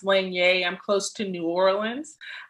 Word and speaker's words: Lanier: cajun french in our family uh lanier is pronounced lange i'm close to new orleans um and so